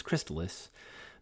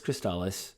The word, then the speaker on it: Crystalis: in crystallis and i've heard some people online pronounce this game as crystallus but it's cristalis because that's originally how they pronounce it in